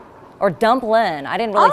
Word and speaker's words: Dumplin': You know, I'd love to ask you about the project that you have going with Jennifer Aniston, the movie Dumpling. Or Dumplin'.